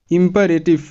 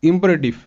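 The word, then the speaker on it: imperative: এর পরের word ইম্পারেটিভ, IM IMPERA TIVE টিভ, ইম্পারেটিভ ইম্পারেটিভ। এখানে PE PE এর উচ্চারণ কিন্তু পাই, যে PE যে আছে PE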